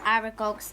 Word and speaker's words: Aragog: And then over here is Aragog's lair. That is part of it. So Aragog's... Aragog, Jamie. Aragog. Can you stop saying it wrong, please?